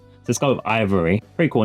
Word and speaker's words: IVRY: Ivory, I think it's pronounced Ivory. It's IVRY with the V and the R as capitalized. So let's go with Ivory.